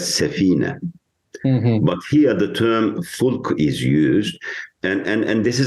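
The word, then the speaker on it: فلك: But here the term fulk is used. And this is a very interesting terminology, because when you pronounce fulk softly in Arabic, it means it's singular. But if you pronounce it fulk, more strongly, it indicates to a fleet of ships.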